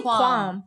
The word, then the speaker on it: qualm: But you don't Qualm? say it like that. I say qualm. It is. That's how you say it.